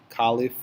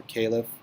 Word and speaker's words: caliph: Peninsula and he became the first caliph or caliph I've already pronounced both ways a leader of the